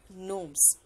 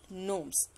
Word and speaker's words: gnome: G is silent, so we will pronounce it as gnomes or gnome.